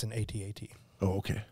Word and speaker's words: AT-AT: None of the other ones are pronounced different. It's the letters of the acronym. Like ATST, right? Yeah. Yeah. Yeah. Yeah, but not AT-AT.